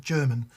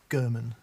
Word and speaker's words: Gurman: Question to follow, but here's a vanity post to tell you that my name is not pronounced German. The G is the same as in guitar. Gurman.